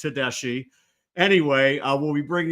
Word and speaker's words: Tedeschi: guest coming on shortly 2025 recruit uh Docker Tadashi um I was going to pronounce his name wrong but I managed to touch bases with him beforehand and we know it's pronounced tesi anyway uh we'll be bringing him on shortly